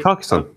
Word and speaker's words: Carcassonne: I don't know how to pronounce it. Is that is it Carcassonne? Carcassonne? Carcassonne.